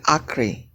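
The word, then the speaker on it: ἄχρι: You pronounce it Acre.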